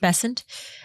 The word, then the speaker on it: Bessent: Also Scott Bessent, how do you say this? Bessent. Bessent uh as well.